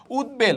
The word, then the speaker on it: উদ্বেল: শব্দের আগে বসে রাইট এই উপসর্গের সাথে যদি ব এর উচ্চারণ হয় ব এর উচ্চারণটা কি থাকবে বহাল থাকবে যেমন উদ্বাস্তু ব এর উচ্চারণ কি পেয়েছি আমরা এই যে এখানে দেখতে পাচ্ছি উদ্বেল বয়ের উচ্চারণ রয়েছে ভাই আপুরা আছে উদ্বেল